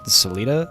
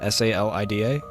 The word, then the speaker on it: Salida: immediately clicked off the ad how do you pronounce it Salita s-a-l-i-d-a Salida okay thank you so you do know